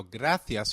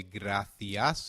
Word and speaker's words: gracias: There's a key difference in how gracias is pronounced in European Spanish versus Latin American Spanish.